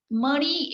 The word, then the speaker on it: Mani: Mani is the two-syllable word, Mani, okay?